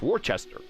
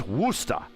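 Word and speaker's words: Worcester: where it says warchest now I say Worchester because that's how it's is spelled and that's how it look sounds anybody else in the world but you're from there it's wora now how they get wora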